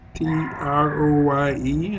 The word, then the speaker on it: Troye: house aide olivia troy t-r-o-y-e i believe it's pronounced troy or troy on trump's narcissistic mishandling